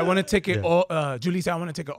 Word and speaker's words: Julissa: Not Julissa. Yeah, I was like Julissa, and she's like, "Mira, it's Julissa."